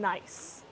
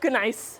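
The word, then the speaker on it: gneiss: is mostly granite and nice. So that G is silent. Um it's not ganice or ganice, it's nice.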